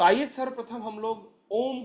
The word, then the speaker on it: ओम: आइए हम सब लोग ओम का उच्चारण करते हैं जो कि तीन अक्षरों से मिलकर बना है अ उ और म जितनी गहराई से हम